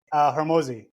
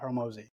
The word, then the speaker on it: Hormozi: Hormozi.